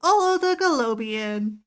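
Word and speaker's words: Olo the Gelobein: I would pronounce it Ongo Goblagian. I'm Olo the Galobian.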